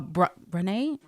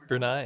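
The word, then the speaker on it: Brunei: the other the the Sultan of uh uh Bnee Brunai. Brunai. Okay. Yeah. See, I'm I'm I'm behind on my my pronunciations here, but um can you tell us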